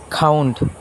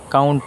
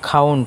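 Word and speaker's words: count: খাউন্ড এই শব্দটির সঠিক উচ্চারণ হচ্ছে খাউন্ড। কাউন্ট না খাউন্ড।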